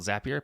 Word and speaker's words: Zapier: a lot more of zapier and by the way that's how you say it it's called zapier because it rhymes with make you happier right so it goes